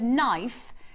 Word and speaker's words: knife: whoever thought that writing the word knife needed to have a silent k why georgie asked me